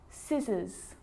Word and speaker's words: scissors: Now the letter C can cause a few problems because it's often silent after the letter S, like in these very common examples. They're quite tricky. Muscle, muscle, scissors, fascinate, scene, scenario.